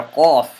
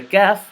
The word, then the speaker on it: Qaaf: But this letter, the letter Qaaf, does not have that exhalation of air.